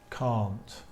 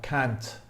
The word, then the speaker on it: can't: this word is pronounced can't count in American English the pronunciation is slightly different I can't really do I can't I can't really do an American accent so I'll try it's more like can't can't but it's better